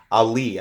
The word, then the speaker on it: Aller: It's spelled A-L-L-E-R, so it looks like Aller, but I guess it's pronounced Ali. I don't know.